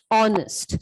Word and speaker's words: honest: Okay, so here this word, when we pronounce the word, here H is silent. So we do pronounce the word as R, honest.